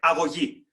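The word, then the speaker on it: αγωγή: And it's the scene of the training of the young Spartan, the so-called agogi, or to pronounce it properly in Greek, agogi, which is how you're grown up.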